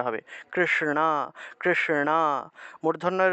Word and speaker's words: কৃষ্ণ: কৃষ্ণ, কৃষ্ণ, মূর্ধন্যের উচ্চারণটা ণা রূপে, ণা ণা, কৃষ্ণ, ঠিক আছে, শ্রীকৃষ্ণ।